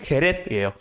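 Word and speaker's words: Jerez: 쉐리 와인을 만드는 곳이 헤레스예요. 원래 스페인어로 헤레스라고 불렀고요. 이 헤레스를 영어식으로 발음한 게 쉐리입니다.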